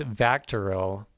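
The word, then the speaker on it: VACTERL: What is Vectoral? That is spelled Vactterl.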